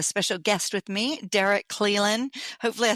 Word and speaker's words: Clelan: I'm your host, Angelique Robb, and today I have a special guest with me, Derek Clelan.